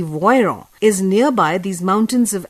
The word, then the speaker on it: Voiron: voiron the name of the city is spelt as v-o-i-r-o-n or in english v-o-i-r-o-n this city voyron is nearby these mountains